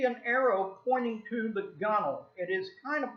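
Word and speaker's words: gunwale: Belle gun whale but it's pronounced gunnel that W is silent and ain't gonna get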